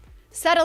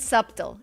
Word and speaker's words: subtle: Subtle means not obvious but important. Pay attention to the pronunciation. Don't pronounce the B. It's not subtle.